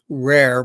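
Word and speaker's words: RAIIR: it's basically I uh I call it rare but it's spelled Bel r a i i r and it's it's basically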